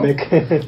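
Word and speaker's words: T-MEC: El Telecán contra el ahora denominado Temec, ¿o cómo se pronuncia esto? Temec.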